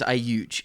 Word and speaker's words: Audj: But this girl's name is Ayuj. It's spelled Audj.